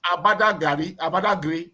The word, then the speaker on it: Badagry: It's not Badagry, it's Abadagri, something like that.